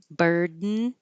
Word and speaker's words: burden: This was because burden, it's spelled UR, burden, but it sounds the same as bird, which is spelled IR, but sounds like ER.